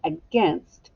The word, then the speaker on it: against: first one echo me against the desk was against the wall against all right so let's take